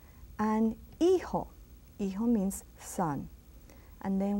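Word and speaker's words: hijo: that g and E again is H and eho eho means son and then we go to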